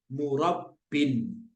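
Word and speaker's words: مُرَبٍّ: Jadi bacanya murabbin gitu ya. Ingat ya, rumusnya adalah ketika alif lamnya dibuang, ini alif lamnya dibuang, ya-nya juga ikut hilang, huruf sebelumnya berubah jadi harokat kasroh tanwin gitu, kasroh tanwin, kasroh yang double gitu ya.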